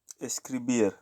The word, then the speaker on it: escribir: Hotel hotel let's watch escribir escribir system right we see that still here the accent is on beer instead of a scree escribir basically beer so that's